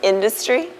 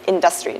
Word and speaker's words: industry: And another one that I often hear is industry, whereas it's being pronounced as industry, not in this video, but a lot of times. Yeah. So these are very common mistakes in terms of the stress on the syllables in a word.